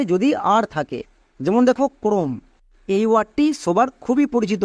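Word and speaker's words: chrome: এর ক্ষেত্রে আর একটি নিয়ম হচ্ছে, সিএইচ এর পরে যদি আর থাকে তখন সিএইচ এর জন্য ক উচ্চারণ করব, সিএইচ এর ঠিক পরে যদি আর থাকে। যেমন দেখো ক্রোম, এই ওয়ার্ডটি সবার খুবই পরিচিত ওয়ার্ড।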